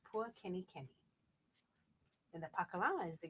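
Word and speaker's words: pua kenikeni: And that's pronounced Pua Kenny Kenny.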